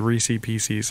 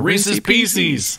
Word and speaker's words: Reese's Pieces: She said Reese Pieces, and I was like, no. How do you say this? Reese's? How do you say this? Pieces? How do you say this? Together? Reese's Pieces. Yeah. Or they say like Reese Pieces, and I'm like, Reese's. There's an apostrophe S in there.